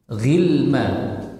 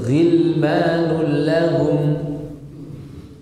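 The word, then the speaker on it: غلمان لهم: Gilma. Maka ini tidak dibaca gilma. Enggak. Tapi ghilmanul lahum. Nah, tidak dibaca gil. Enggak.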